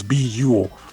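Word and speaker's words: Buhl: it is pronounced as beule which rhymes with cool and trust us there's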